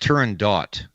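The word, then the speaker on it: Turandot: let's go let's go it's actually pronounced Turan dot believe it or not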